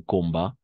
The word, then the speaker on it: combat: No vamos a pronunciar la T al final, solo va a ser un combat, un débat, un appât, un dégât, ¿d'accord? Dégât. de gars, appât, débat et combat. La T no se pronuncia.